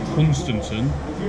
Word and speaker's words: Hunstanton: Join us in the next episode as we travel to Hunstanton, that's how you pronounce it, Sea Pauling, Hemsby again, California again, and then back in Great Yarmouth.